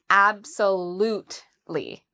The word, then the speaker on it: absolutely: So the stress is on the third syllable. We would say absolutely. So there's 4 syllables in total.